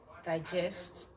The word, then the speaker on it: digest: is a noun, it is on the first syllable. Okay, we can see the example there. Digest, digest, digest, digest, digest.